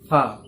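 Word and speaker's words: ف: ফা বলার মাখরাজটা হচ্ছে এমনি যে আমাদের যে নিচের ঠোঁট আছে, এই ঠোঁটটা ওপরের দাঁতে টাচ হয়ে ফা উচ্চারণ হয়। ফা ফা ফা ফা, বুঝতে পারছেন?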